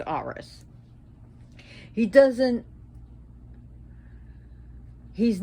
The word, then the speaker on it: Ares: a war god but he's not like rs ares which is pronounced rs he doesn't he's not